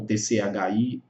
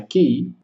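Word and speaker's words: 氣: Você vai encontrar com TCHI, você vai encontrar com KI, você vai encontrar com CHI. Então, por mais que a escrita seja QI, a pronúncia do conceito é Qi.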